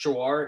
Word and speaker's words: Jhawar: For the judge's reference, that's Jawar. It's spelled Jhawar.